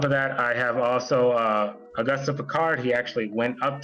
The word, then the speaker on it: Auguste: I call him Augusta, but whatever. August, Well, I guess. It would be easier if you pronounced his name the way it's supposed to be pronounced, that's all. Auguste.